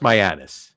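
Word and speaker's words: Mianus: s Uranus Uranus it's it's so now it's pronounced myanus right that's what it's pronounced but you can't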